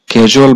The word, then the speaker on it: 계절: এখানে আপনি কেজলও পড়তে পারেন অথবা কিয়েজলও পড়তে পারেন, দুইটা উচ্চারণই সঠিক। কেজল বা কিয়েজল অর্থ হচ্ছে ঋতু।